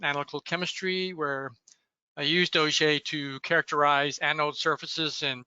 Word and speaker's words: Auger: of the word OJ although it is spelled like those large drilling tools uh it is named